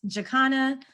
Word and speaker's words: Jaconna: we are um so the pronunciation of my name in case you're curious it's jakana feel free to call